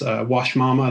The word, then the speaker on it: Uashmama: of our favorite clients wash mama that's spelled with a u but yeah so we